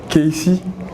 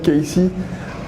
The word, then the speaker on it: KC: Moi c'est Casey, ça s'écrit Cassé mais ça se lit en anglais. Casey, à l'état civil c'est Simuto Castemon Bronchouik Sebio, artiste, jeune artiste béninois, rappeur, chanteur.